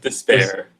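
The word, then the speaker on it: D'Spayre: as as you think so that's how you pronounce it despair despair is a demon and he's a fear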